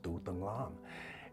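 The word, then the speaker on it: Tu Dang Lam: to pronounce my name my name is pronounced dudanglam and a lot of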